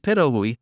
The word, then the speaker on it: pitohui: can be poisonous the hooded patohui pronounced perahui is a sunbird found